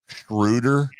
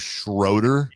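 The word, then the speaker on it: Schröder: I always thought it was Dennis Schrudder, but I even heard Scott Perry in the press conference say Dennis Schroeder, which is how it's spelled.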